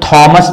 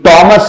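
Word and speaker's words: Thomas: sound आ रहा है ये बहुत से लोग थॉमस पढ़ते हैं जैसे थॉमस अल्वा एडिसन तो उनका नाम जब पढ़ते तो कहते थॉमस अल्वा एडिसन नहीं ये टॉमस होता है टॉमस ट राइट और इसी तरह से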